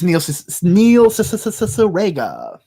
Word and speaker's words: Cicierega: It's Neil Cicierega. It sounds like whenever you say his name, it sounds like you're doing that radio DJ thing where you're repeating a syllable to make it emphasis, but it's just his name.